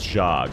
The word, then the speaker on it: Jia: A reminder for the pronunciation that Jia is Jia.